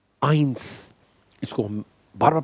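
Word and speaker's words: eins: 1, आइंस, इसको हम बार बार pronounce करेंगे, आइंस आइंस आइंस।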